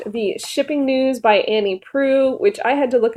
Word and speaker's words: Proulx: be talking about the shipping news by Annie Pru which I had to look up how to